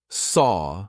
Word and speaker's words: saw: we speak it's annoying so actually saw feels like it should rhyme with door right it's the same sound saw door look at the